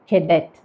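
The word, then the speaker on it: cadet: അപ്പോൾ നമ്മൾ സാധാരണ പറഞ്ഞ് കേൾക്കാറുള്ളത് കേഡറ്റ് എന്നാണ്. പക്ഷെ അങ്ങനെയല്ല കേട്ടോ പറയേണ്ടത്, കെഡറ്റ്, കെഡറ്റ്.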